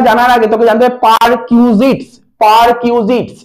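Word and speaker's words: perquisites: যখন আসবে এটা জানার আগে তোকে জানতে হবে পারকিউজিটস পার কিউজিস কি বললাম কথাটা বল উচ্চারণ করার কিউজিস পি ই আর পারqউ কিউ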